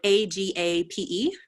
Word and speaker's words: agape: love is unconditional agape love which i believe is spelled a g a p e i've seen it before and i'm like hey